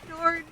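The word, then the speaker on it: Björn: were good at English why are you pronouncing Bjorn as Bjorn CU it's born okay it's like it's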